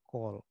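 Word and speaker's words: כל: ada call atau call ini lebih tepat dibaca call karena ini kames hatuf ya di kosakata tertutup ini bukan Kal tapi call call haam jadi diucapkan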